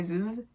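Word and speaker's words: Zvue: mp3 player called zoo i'm gonna say zuma it's spelled z-v-u-e and the youtube channel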